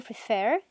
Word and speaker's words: prefer: Y acá sale el verbo prefer, que tiene 2 sílabas y se acentúa en la segunda.